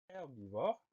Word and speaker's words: herbivore: Donc, comme pour herbe, on va avoir un H muet. Donc, le mot herbivore commence par un H qu'on n'entend pas, évidemment.